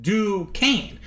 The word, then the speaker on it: Duquesne: One of the characters suspected of being Batwoman is Kathy Duquesne, pronounced Duquesne.